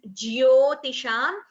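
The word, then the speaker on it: ज्योतिषाम्: The Jyotisham word, Jyo, should be heard clearly. Sometimes we do not pronounce the Ya very clearly. So then we tend to hear it as Jyotisham. It is not Jo, it is Jyotisham Ravi Ramshuman.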